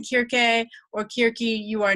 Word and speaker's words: Circe: head yes so so if I were teaching a course on ancient Greek I would say cure gay and modern Greek often says querque because pronunciation has changed